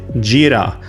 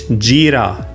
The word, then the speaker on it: Jira: And Jira, the project management tool. It's Jira, not Jira.